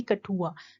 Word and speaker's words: कठुआ: लेकिन जैसे ही time pass होता गया तो उसको काठिया से क्या ये प्रोनाउंसिएशन होने लगी? कठुआ। तो आज के टाइम में इसको क्या बोला जाता है? कठुआ बोला जाता है।